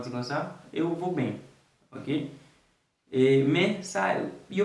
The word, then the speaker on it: bem: Il écrit B-E-M, mais on prononce comme bem.